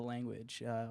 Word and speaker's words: Lvnguage: and G UA GE is the way to spell our pan name and to pronounce it's just the language we got it the